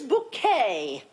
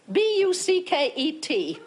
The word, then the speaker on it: Bouquet: My name is Bouquet. B-U-C-K-E-T. It's not bucket, it's bouquet.